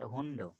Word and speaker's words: Hund: But if ending, it is not hundo, hunto, hunto. Ta sound. Ending D is ta sound.